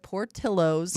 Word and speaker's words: Portillo's: I'm going to say it Portillo's. Okay. Because that's how Chicagoans say it.